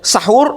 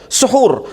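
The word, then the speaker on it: سحور: Jadi bisa orang baca sahur, bisa juga dibaca dengan suhur.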